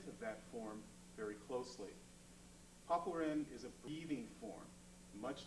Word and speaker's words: Papuren: Papuren. also pronounced paipuren or even happuren, means 8 steps, or something like 8 consecutive steps.